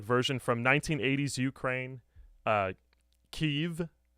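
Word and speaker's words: Kyiv: from 1980s Ukraine uh keev as it is now it is as it is now pronounced in the Western World um Gideon's mob are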